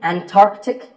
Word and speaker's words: Antarctic: The C in the middle is not silent. Similarly, Antarctic and Antarctica.